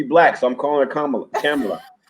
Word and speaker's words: Kamala: so i'm calling her camera like the way the indians pronounce it is kamala because she was based